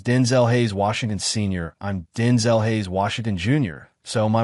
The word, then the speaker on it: Denzel: Denziel my name's pronounced Denzel he explained so there you out of folks. The emphasis is not syllable of his name and not the second with the last part rhyming with pole or lull.